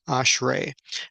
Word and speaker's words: ashrei: It's ashrei.